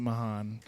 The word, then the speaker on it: Mahon: So we'll make sure that Mark Bland knows to pronounce it Mahon.